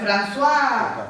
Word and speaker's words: François: Yo ni inglés ni francés, así que ya sabrán cómo se pronuncia esto. Creo que es ¿cómo? ¿Francois en francés? ¿Cómo será? François. Ah, bueno, pues François Oltat.